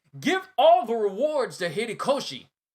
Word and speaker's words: Horikoshi: the hats down, give all the rewards to Horikoshi. Horikoshi. I keep getting his name wrong.